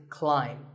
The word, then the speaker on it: climb: see on the screen the AI is an I sound not an a sound so the word is climb by the way what's